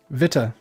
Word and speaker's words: Vita: It's Vita, like a vitamin. So I've been pronouncing it correctly, yeah? But don't Vita? drop that T.